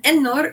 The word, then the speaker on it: Ennor: And then Ennor is a word for Middle Earth. Yeah, it's pronounced very similarly to Kevin.